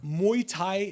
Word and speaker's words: Muay Thai: Muay Thai, did I pronounce it right?